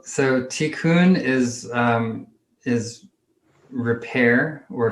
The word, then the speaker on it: tikkun: don't we talk about what t-coon is if that's how you pronounce it yeah sure so so tikkun is um is repair